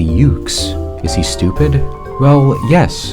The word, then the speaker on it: Yuke's: Developed by U-KISS and released in 2002, marking the first time something bearing the initials EOE was actually good. Wait, why did he say it like that? It's obviously Yuke's.